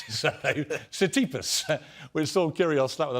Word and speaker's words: Tsitsipas: Clash with Stefanos, I can't even pronounce his surname, Tsitsipas, which saw Kyrgios slap with another fine. Mate, you're supposedly a tennis fan. Your name is P-I-E-R-S, Pierce. Yeah, definitely learn to say Tsitsipas.